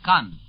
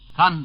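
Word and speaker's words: Caen: This second beachhead is 40 miles northwest of Cannes. Cannes, by the way, is spelled C-A-E-N.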